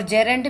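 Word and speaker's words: gerund: अपना फर्स्ट होगा infinitive, second is जीरेंट, जिसको बोला जाता है, सही प्रोनाउंसिएशन रहेगी जेरेंट, ओके।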